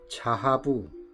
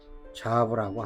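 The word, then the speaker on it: זהב: 금이라는 히브리어는 자하부, 이렇게 읽습니다. 자하부라고 합니다. 자하부, 발음을 자하부 이렇게 읽는데요.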